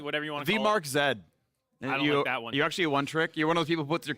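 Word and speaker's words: Markz: i believe it is me the marks is pronounced as this one in the letter z z whatever you want to be mark zed actually a one-trick you're one of those people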